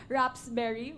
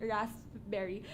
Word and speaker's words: raspberry: supposedly a wrap I mispronounced it rather rapsberry which is supposed to be raspberry so um from that